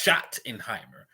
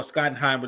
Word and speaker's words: Schottenheimer: circling like that oh it's pronounced shot in Heimer thank you thank you for informing me you're there so Schottenheimer okay I've been calling the boy Scott and Heimer this whole damn time so I appreciate